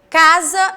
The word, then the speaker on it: casa: caso da palavra é casa e lazer casa olha entenda uma pronúncia casa foi escrita com s mas tem um som de z não é mesmo que